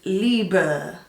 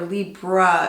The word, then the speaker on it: Libre: they say Prisme, and then the Libre is Libre. At least that's how the guy sounds when he pronounces it. But again, everyone is using the English pronunciation. So these French speakers are basically saying, you would say it Libre or Libra if you were an English speaker or you were pronouncing it in English.